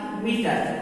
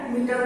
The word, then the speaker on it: metre: इसी तरह METRE, मीटर, यहाँ लास्ट में ई है मीटर वर्ड के, तो इसलिए ई साइलेंट है।